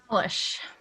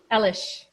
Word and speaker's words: Alish: Alish. Alish.